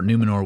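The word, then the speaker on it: Númenor: our first look at numenor or numenor with a rolled R and I am not going to pronounce it with the rolled R because I actually found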